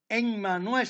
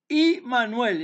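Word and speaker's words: Immanuel: hebrea por lo tanto no se dice enmanuel se dice imanuel Y por qué Si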